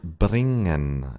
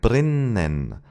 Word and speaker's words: bringen: Let's take the German word bringen as an example. It would sound like brinen, but that's wrong.